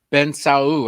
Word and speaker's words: Bensaou: well it's a real pleasure to introduce ben ben sao and i hope i'm pronouncing his last name correctly am i very